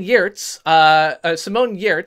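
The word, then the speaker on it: Giertz: So Simone Yertz, whose name I was mispronouncing and didn't realize the G was silent until just recently, is from Sweden and is a Patreon creator on YouTube.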